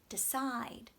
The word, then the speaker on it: decide: unstressed part the de we don't have to say D side we can say duh decide decide gives it a very natural relaxed sound very relaxed when you